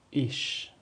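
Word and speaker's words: ich: میشن صدای ش میده صدای ش مثل ایش مثل ایش یعنی من ضمیر اول شخص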